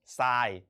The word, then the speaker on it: ทราย: ทราย เห็น ไหม ครับ เรา ไม่ ได้ อ่าน ออก เสียง เป็น ทร เหมือน กับ คำ ควบ แท้ เช่น อินทรา จันทรา นิทรา อัน นั้น เป็น ควบ แท้ ใช่ ไหม ครับ เพราะ เรา อ่าน ออก เสียง ทั้ง ท ทหาร และ รอ เรือ ต่อ ไป ครับ เรา